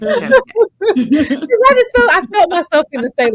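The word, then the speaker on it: Kyazike: Ashley, how you pronounce his name? Oh, her name is Cheske.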